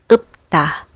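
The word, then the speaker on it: 읊다: And finally, when you see this final consonants combination, you pronounce it as p, like in the word upta, which means to recite.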